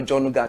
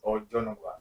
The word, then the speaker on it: Ojonogwa: Did I pronounce the name right? Because I think I use Yoruba tonation or Jonugwa to pronounce the name. Yes, but the real pronunciation is Ojonogwa.